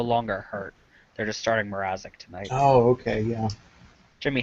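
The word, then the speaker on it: Mrázek: Yeah, they're starting Peter Mrazek.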